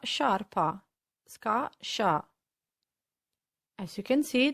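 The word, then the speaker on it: sciarpa: as you can see they only differ for the letter i which makes a huge difference because the i tells us that instead of a heart sound scar we need to soften the sound and pronounce sha as a memory tip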